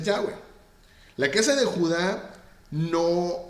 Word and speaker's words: Yahweh: Estas son Yud, Hei, Bab, Hei, cuya pronunciación es Yahweh.